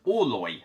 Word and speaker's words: Orloj: This is Oloy by Paralo Games. And yes, I have Googled it. This is how you pronounce the word. It's a Czech word for the Prague astronomical clock.